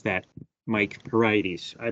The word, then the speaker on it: Heriades: Heriades. I pronounce it Heriades.